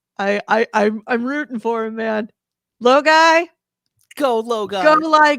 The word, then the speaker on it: Logi: Oh, Low guy is how is it Oh, it's pronounced?